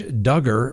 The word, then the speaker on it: Duggar: between the attorneys the josh duggar rhymes with hugger trial is getting ready